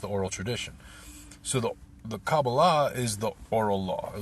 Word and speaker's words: Kabbalah: So to talk broadly, many people have heard the term Kabbalah, or Kabbalah is how it's said in Hebrew.